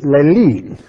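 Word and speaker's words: λαλεῖν: I'm going to spell it again. L-A-L-E-I-N. Now, which is lelin.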